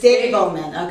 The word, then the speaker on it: Davelman: I always pronounce it incorrectly. Davelman. Davelman. It's Davelman.